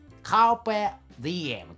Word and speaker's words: カルペ・ディエム: れはね、ラテン語なんですよ。カルペディエムという風に発音するんですけ